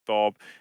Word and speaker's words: Q Bob: Yeah, the Q Bob, which is actually just pronounced Bob for gear.